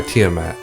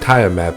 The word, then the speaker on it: Tiamat: has been taken by tiamat i often pronounce it tire map because that's how i used to say it as a 9 year old kid so if i slip